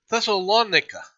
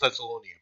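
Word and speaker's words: Thessaloniki: I would have called it Thessalonia, but I guess that's not how you pronounce it.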